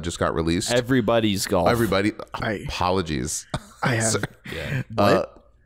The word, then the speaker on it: Everybody's Golf: Am I saying it right? Possessive, yes. Okay. It's everybody's possessive golf on PS4, yes.